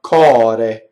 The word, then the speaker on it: core: Flipped R, cɔre. My tongue just touches the roof of my mouth. It's almost like a D. Cɔre. See, I'll show you. Cɔre. Right? Like I do a D. And I just do cɔre. I like cɔde, cɔre. Tip of my tongue. Right? So the R is in between vowels. So it is flipped.